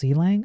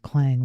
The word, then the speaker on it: Clang: is get good also is it pronounced seang I thought it was clang like the sound your pots and pans make when they hit the ground I mean it's C and then language you know l n